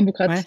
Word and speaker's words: Aboukrat: Aujourd'hui, je reçois Aboukrat, j'espère que je le prononce bien, ou Aboukra? C'est ça. Aboukrat? Non, non, Boucrate, Ouais, ouais.